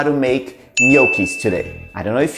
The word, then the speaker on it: gnocchi: So I'm gonna be teaching you how to make gnocchis today.